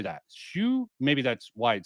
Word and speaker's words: Hsu: Shu, maybe that's why it says Dan Shu, because that's how HSU is pronounced, or close enough for us dumbass Americans.